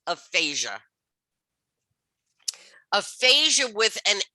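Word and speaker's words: aphagia: So you can see how one little letter smack in the middle of a word, and both words sound exactly the same.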